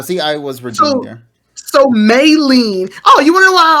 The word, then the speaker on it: Maylene: i was returning so maylene oh you wanna know why also because i always associate may with may and so anything outside of that is not heard so anyway it's may lean and um if they